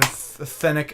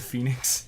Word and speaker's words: Phoenix: Because if you were to actually spell it how it sounds, It would be the E before the O. it would be like F-E-N-I-X. Phoenix.